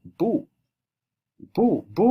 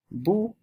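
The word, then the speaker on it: 不: here is them boo so he said when it's when bu is following a fourth tone uh it changes to a fourth tone this rule is always followed automatically even though it will not be reflected in the pin. So when you're reading it, you'll see it written this way but because it's following the fourth tone you pronounce it this way.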